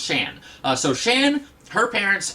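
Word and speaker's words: Xi'an: uh XI apostrophe am and uh I always pronounce it zian but then like in the new Mutant series and even in this issue uh there are people who call her Shan s-h-a-n uh and so I guess her name is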